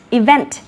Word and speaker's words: event: Trọng âm của từ event lại rơi vào vent. Còn even thì trọng âm rơi vào y.